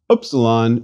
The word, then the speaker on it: upsilon: don't have in English opsilon should ideally be pronounced as the u in French to or as in the German word for Miller Miller in the other hand the U in English prune may serve as a close approximation please repeat Upsilon